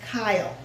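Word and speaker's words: chyle: and that fat is known as kyle like a boy's name kyle but it's spelt like this okay so that's going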